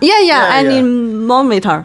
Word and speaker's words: anemometer: What's the pronouncing? For the speed. For the wind speed. It's hard for me. Anemometer? Anemometer.